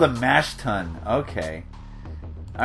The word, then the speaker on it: tun: So basically, this conveyor belt is going to bring the barley up to the top of the mash tun. I hope I'm pronouncing that right. It's pronounced T-U-N.